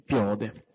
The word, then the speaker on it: piode: Piode, con l'accento sulla O, allora, quindi piode.